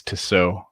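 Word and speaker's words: Tissot: name i think it's to sew i think the these the last t is silent t-i-s-s-o-t and you can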